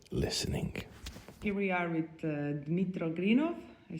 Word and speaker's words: Dmytro Grynov: Here we are with Dmytro Grynov.